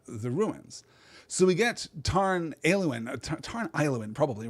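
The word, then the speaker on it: Tarn Aeluin: So we get Tarn Ailuin, probably, right? I don't know why I'm choosing right now to mispronounce that AE combination that we've had so many times. Tarn Ailuin, that is literally lake, blue lake, right?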